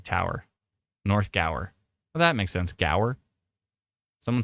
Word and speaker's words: Gower: like Tower Ray says go like Tower North Gower that makes sense Gower someone says Gore locals say Gore Gore Gore okay clearly there's a it's never